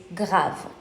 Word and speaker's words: grave: So the English pronunciation will be grave and the French pronunciation is grave.